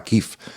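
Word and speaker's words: Kyiv: hace muy poquito decíamos kiev que es la capital de Ucrania pero parece que ellos prefieren kif la forma kif y eso bueno porque kev parece ser que es la forma en que lo pronuncian los rusos y como ellos ahora no quieren saber nada que tenga ni ni ni ni olor a a Rusia prefieren Efectivamente es mucho más Cortés allí decir kif vale tú estuviste en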